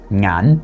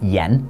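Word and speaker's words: 眼: The word for eyes in Cantonese is ngan, and that same character is pronounced yan in Mandarin, but they add another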